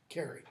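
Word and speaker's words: Carew: There's a guy named Edward Carey, I can't remember the first name. a relatively minor poet. Last name is C-A-R-E-W, but it's pronounced Carey.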